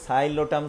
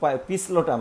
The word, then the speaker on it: Psilotum: এখন বলতে পারো যে স্যার যে সাইলোটাম সাইলোটাম বলছেন কিন্তু সামনে তো পি আছে, তাহলে তো পিসলোটাম হয়ে যাবে নাকি? না, এখানে হলো যে পিটা উজ্জ থাকে আর এস থেকে তুমি এখান থেকে উচ্চারণটা প্রোনাউন্সিয়েশনটা শুরু করবা, তাইলে উচ্চারণ দেখবা সাইলোটাম হয়ে যাবে, এখানে পিটা উজ্জ থাকে।